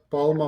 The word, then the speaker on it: Palma: Uh it's one word palma wallet. Um so Palma is just clarify it's like palm right palm tree. Uh but you know Palma is more like an African pronunciation.